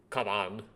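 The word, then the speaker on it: かばん: kanji for bag is kaban is how you pronounce it uh kante bag oh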